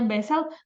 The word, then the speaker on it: Basel: itu diatur dalam wesel Basel tulisannya bacanya bezel salah satu dua tiga